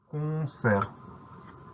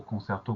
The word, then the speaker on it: concert: On va surtout faire attention au son E qui s'écrit E, et à cette lettre muette à la fin, le T.